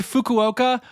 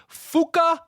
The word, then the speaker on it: Fukuoka: I got to say right off the top, uh, Krisen Freeman acting, voice acting is to in this episode says the word fukuoka. Fuka. Two syllables. Fuka.